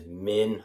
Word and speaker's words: Minh: Just want to remind everyone my name is Minh. Minh. Okay, I have a middle name as well, Minh. Can everyone pronounce? Min. The H is like silent.